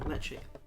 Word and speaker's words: Ledaig: Yeah, gotta pronounce it right, Ledaig.